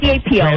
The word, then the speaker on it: Capo: Either way, C-A-P-O. It's spelled the same way, whatever way you pronounce it. Capo. Capo. Capo. Think of a cap with a little O at the end.